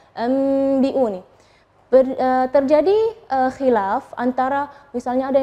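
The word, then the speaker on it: أَنْبِئُونِي: Nah, tapi ketika kita membacanya anbi'uni, terjadi khilaf antara, misalnya ada yang bilang bibirnya terlalu ronggang, biun, atau merapat. Itu yang mana sih yang benar? Nah, yang benar adalah kita merapatkan bibir, tapi jangan terlalu menekan, enggak.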